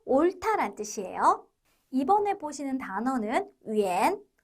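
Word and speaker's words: 远: 뜻이에요 이번에 보시는 단어는 위엔 위엔이라고 읽습니다 원거리이라고 우리말의 표현도 있는데요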